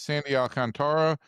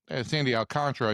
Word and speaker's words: Sandy Alcantara: They needed a win because they were going to face Sandy Alcantara and Sandy Alcantara, I should say. I always mess up the pronunciation.